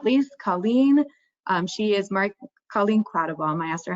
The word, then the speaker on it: Quattlebaum: She is Colleen Quattlebaum. I asked her how to pronounce her last name, so I should say her full name.